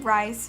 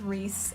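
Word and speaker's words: Rhys: you say his name I called him rice for the longest time and then found out that it was that it was Reese and I don't know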